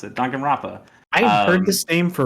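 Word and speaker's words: Danganronpa: like japanese games though uh don gunn wrong don gun ronpa that's how you pronounce it duncan rappa i've heard this game for a really long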